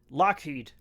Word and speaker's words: Lockheed: So, uh he changed it he changed it to be Lockheed so that when people said it they would pronounce it Lockheed as pronounced by a Scotsman.